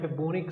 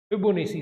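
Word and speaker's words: Fibonacci: तो last topic का नाम है फिबोनिक series, people also pronounce it एज फिबोनेसी series. आप जिस मर्जी नाम से इसको बुला सकते हो, फिबोनिक सीरीज और फिबोनेसी सीरीज।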